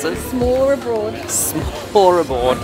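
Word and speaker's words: smørrebrød: S'more abroad. S'more abroad. If you want to sound like Google Translate, it's like s'more abroad.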